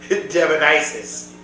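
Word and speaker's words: Devinysus: on all the events that I'm running it's pronounced demon Isis but it's spelled like it's like demonesis right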